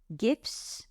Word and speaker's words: GIF: we can add images gifs I do pronounce it with a hard G uh YouTube videos you